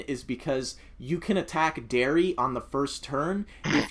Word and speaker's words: Derry: what de or y-yeah did I pronounce it right Derry yeah okay all right I